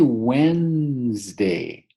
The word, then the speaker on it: Wednesday: Now we say Wednesday.